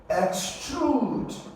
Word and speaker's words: extrude: Being an action, you go to stress the second syllable. So you have X and then you have trude.